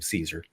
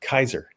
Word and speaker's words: Caesar: have pronounced his name Caesar. He would have pronounced it Kaiser, because that's just how Latin was pronounced.